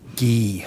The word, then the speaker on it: Ghee: pronouncing your name correctly it's it's key it's a hard G ghee okay Mr ghee thank